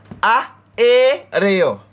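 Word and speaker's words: aéreo: So this little word where you look on right there, so is a three syllable word as small as it look. A, E, reo.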